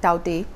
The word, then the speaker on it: Tauktae: extremely severe cyclonic storm taute that's how it's pronounced in burmese is battering india's west